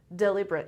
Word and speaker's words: deliberate: Deliberate.